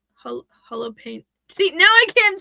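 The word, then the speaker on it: Holopainen: Thomas, it's Thomas or in Finland because he's from Finland. It's tumas harp and holo pain.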